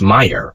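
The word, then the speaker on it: Mayr: Ernst Mayer pronounced Mayer was one of the greatest scientists who ever lived.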